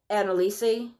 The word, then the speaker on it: Anneliese: gonna tell you about Anna Lisa and Lisa Michelle what okay so this is how it's spelled okay a NN e li es eso Annelise but she pronounces it annalisa she's a fancy [